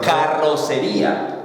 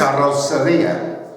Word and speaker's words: carrocería: What's the most difficult word to pronounce in Spanish for you? The double R's. For example, Because you have to- carrocería.